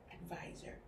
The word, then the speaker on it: advisor: The letter V and the letter S in this case that takes on a sound more like a Z.